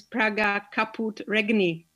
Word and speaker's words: Praga Caput Regni: the proper way to pronounce this game the pronunciation of our game is praga kaput regni so you were right i think that was